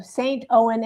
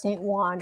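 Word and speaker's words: Saint-Ouen: Those are when we say we got like Juan Oh, St. Owen is pronounced St. Juan as the Paris flea market.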